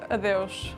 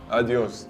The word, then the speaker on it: adeus: Adeus. Adios. Oh, I think I've heard that before. Adeus, that's better.